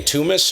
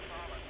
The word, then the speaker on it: Thomas: How do you say your name? Tumas or Thomas? Go ahead. Yeah, my name is Thomas.